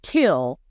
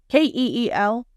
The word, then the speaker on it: Keel: he pronounces ke as kill and is trying to spin the narrative like that means something ke e l is Keel like Keel Hall not kill Keel there is a difference words matter facts matter